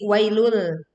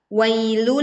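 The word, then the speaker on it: ويل: Tidak mengeluarkan lidah menjadi wailul. Atau memantulkan bacaan menjadi wailul. Yang betul adalah wailul lil mutaffifin.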